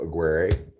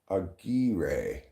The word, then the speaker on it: Aguirre: It kind of looks like Mark McGuire's name, but without the M. Oh, Aguirre. Aguirre. Aguirre. Aguirre. It's hard to roll it at that spot in the word.